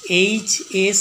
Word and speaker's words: HS: It is blank HS school. H a vowel sound, তাই an HS school an.